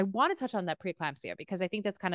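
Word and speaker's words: preeclampsia: preclampsia or is it preclampsia how do you pronounce it I preclampsia is how is how I say it how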